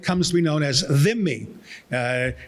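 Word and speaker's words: dhimmi: known as vimi uh it's hard to pronounce Arabic has uh some interesting uh consonants there are three THS in Arabic the the right so three so uh them me is sometimes spelled d-h-i-m-m-i because the hard DH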